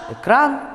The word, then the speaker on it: экран: На месте «э» в начале слова произносится «ы» с призвуком «э». Этаж, экран, экономика и так далее.